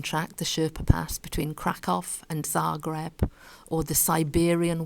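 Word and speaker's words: Kraków: We might think that this is a rhyme, but actually this place in Poland isn't pronounced crack. It's pronounced crack off.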